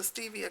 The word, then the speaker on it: stevia: And these are just the stevia clear drops. Stevia. Both pronunciations are correct.